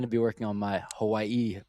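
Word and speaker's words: Hawaiʻi: If you see an apostrophe, you're supposed to stop.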